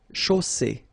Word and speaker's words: chaussée: Okay, here final E not pronounced, and then you get the double S between two vowels, so it's really strong. I mean, the S is s. Okay, so une chaussée.